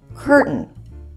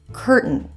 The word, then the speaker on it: curtain: the T for example when pronouncing curtain curtain hold the t as in Cur and then add an N curtain listen to some other